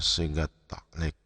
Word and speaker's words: sigat ta'liq: Yang di atas itu, di atas bismillah itu dibaca sigat ta'liq.